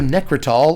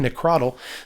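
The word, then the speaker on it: Nekrataal: back in the day it's also necritol or if you're pronouncing it wrong necrotal this is a Elvish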